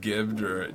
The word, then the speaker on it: gibbed: Getting fragged, getting jibbed or whatever. Jibbed. I mean, I always yeah. called it gibbed, but it's apparently jibbed. Is it jibbed? Yeah, It is. Yeah. I would spell it with a J.